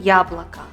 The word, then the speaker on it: яблоко: видим яблоко высшим яблоко безударное я также как и безударная и произносится и слове месяц на месте буквы я мы говорим и и слышим звук и так как второй слой безударный месяц а в слове яблоко мы отчетливо узнаем звук я потому что ударение падает на первый слог правило номер три ударная